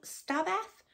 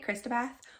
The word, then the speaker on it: Xstabeth: So Xstabeth, and I did look it up on YouTube to hear the author talk about the book, and that's how he pronounced it, so I'm going with that. I was calling it Xstabeth because I just thought of Christina Aguilera when she was ex-Tina, and I went with that, but I was wrong.